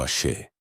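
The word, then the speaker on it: Àṣẹ: La respuesta es el Ace. pronunciado aé.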